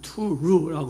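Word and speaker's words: תור: 본문에 나오는 이 정탐꾼이라는 이 말의 히브리어 뜻은 히브리어 말은 발음은 투루라고 하는 투루 이 말입니다.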